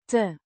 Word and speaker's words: te: Te means to infinitive particle, pronounced te. similar to the e in bed, a small function word that indicates the infinitive form of the verb.